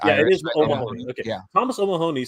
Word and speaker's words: O'Mahony: I'm sorry can you pronounce that, Jay? It's Thomas O'Mahony. Mahoney. Mahoney. I think it's Irish. It is O'Mahony.